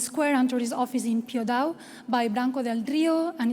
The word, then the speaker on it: Piódão: center of Portugal called Piódão. My pronunciation, it's not the correct, it's something like Piódão, and now João is going to tell us.